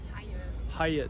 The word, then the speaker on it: Hyatt: Wie wird es ausgesprochen? Hyatt.